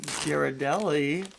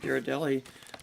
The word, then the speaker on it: Ghirardelli: gosh we really like Ghirardelli uh Ghirardelli squares peppermint bark do you guys say Ghirardelli or Ghirardelli I think a hard G Garrett Ghirardelli okay the